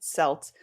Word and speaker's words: Celt: that yeah so um a lot of people think it's pronounced celt but it's actually pronounced selt and it's an acronym